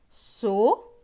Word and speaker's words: soleil: L avec E-I-L. E-I-L se prononce eille. Donc L et eille, leille. Donc ce mot va se lire soleil, soleil.